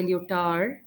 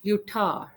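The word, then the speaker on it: Lyotard: not pronounced and it is John Gene is pronounced as yon Francois so in English you might say leotard however in French you can't say you thought so Utah John Francois Utah so he is the writer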